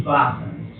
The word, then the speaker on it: vasana: Vou falar sobre os vasanas, mas vou falar mais como é que chama? Na pronúncia Vasana.